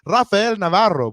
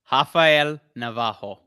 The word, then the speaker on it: Rafael Navarro: I was just straight up going to be like Rafael Navarro, but I know that's not how you say it. Can you go hit us with that one more time?